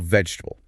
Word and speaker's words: vegetable: For example, vegetable. If you say all four syllables, it sounds very deliberate. A bit robotic a bit. We reduce it to three.